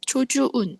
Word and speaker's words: çocuğun: 그래서이 K를 문장을 부드럽게 만들어 주기 위해서 유무샤계로 아, 유무계로 바뀝니다. 그래서이 초운 초주운 이렇게 발음이 아주 부드럽게 되죠. 그래서 K가 유무샷개로 바뀌면서 발음이 초주운이라고 부드럽게 되고요.